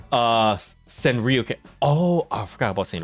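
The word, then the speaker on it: Sanrio: you said it right it's a s uh San Rio oh I forgot about San Rio I saw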